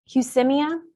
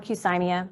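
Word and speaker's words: Qsymia: Fusimia or Fusimia, I've heard it pronounced both ways, is phentermine, typically at a lower dose with an extended release topiramate.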